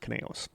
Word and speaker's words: Conejos: I believe it's pronounced Conejos. Konejos. Yes.